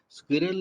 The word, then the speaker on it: Sqrrl: Take a look at their website, and remember, Squirrel is spelled Sqrrl.